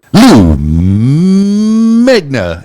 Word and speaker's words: Lou Megna: Lou Megna in the house. Did I pronounce that right?